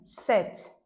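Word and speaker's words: sept: So I circle this P consonant because this P is silent.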